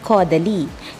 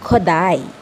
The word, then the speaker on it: Kodály: Isang paalala, ang Kodály, kapag ito ay ipopronounce, yan ay hindi Kodaly, yan ay Kodály.